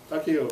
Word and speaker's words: Takio: Takio. I missed the I when I first saw it and I thought it said taco.